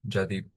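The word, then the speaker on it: Jaideep: Jadep is the is the right pronunciation.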